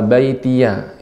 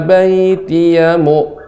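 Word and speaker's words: بَيْتِيَ: Rabbil firli wali walidayya waliman dakhala baitiya mu'minan walil mu'minina wal mu'minat. Nah, sudah bagus Ibu. Rabbilnya tadi sudah hanya pada kata dakhala baitiya. Ya di sini pendek. Waliman dakhala baitiyamu. Langsung cepat.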